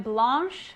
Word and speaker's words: Blanche: Hey everyone, I'm Blanche. That's pronounced the French way, as in carte blanche.